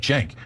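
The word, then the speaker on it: Cenk: So, if you haven't been named like mine, that's the starts with a C but pronounced like a Jenk. It's definitely my job to tell you. Otherwise, you're like, "Hey, Sink Wigger."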